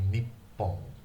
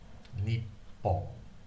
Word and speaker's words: Nippon: Nippon, N-I-P-P-O-N. The 2 P's mean that you need to pronounce both of the P's.